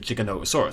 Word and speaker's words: Giganotosaurus: and named it, as far as I'm aware, pronounces it Giganotosaurus, so I think that's how we should pronounce it, generally speaking.